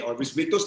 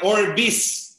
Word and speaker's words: OrbixVictus: Yung X po is pronounced as letter S. S po. Kaya Orbis. Orbis. Yung V, Victus.